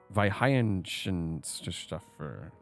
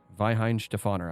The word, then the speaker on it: Weihenstephaner: v is it yes W's are pronounced V's in German Vin stefer I think yeah Vin